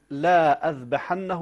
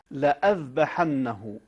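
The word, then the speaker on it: لأذبحنه: هي صوره للهمزه اذا هذه الالف عندما توضع هي زائده ولا ينطق بها فلا يجوز ان يقرا احد لاذبحنه وانما وانما وانما لاذبحنه اي من الكلمات التي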